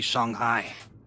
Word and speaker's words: Shanghai: So, our next port of call will be Shanghai. Is that how it's pronounced?